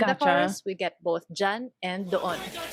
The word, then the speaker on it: dyan: In the chorus, we get both dyan and doon. Dyan means there, near the hearer, but far from the speaker. It's spelled like diyan, but it's very commonly shortened to dyan.